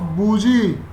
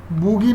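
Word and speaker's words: bougie: Replace tube करेंगे with larger size tube, लेकिन कैसे, विद द हेल्प ऑफ बूजी। बूगी नहीं होता, बूजी ही बोलते हैं।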